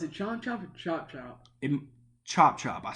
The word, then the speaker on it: Chop Chop: They also released more information on Conan Chomp Chomp, which is the game that... Is it Chomp Chomp or Chop Chop? Chop Chop.